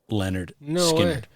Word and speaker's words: Lynyrd Skynyrd: all from their first album which is called pronounced Leonard skard yeah so I mean we can talk about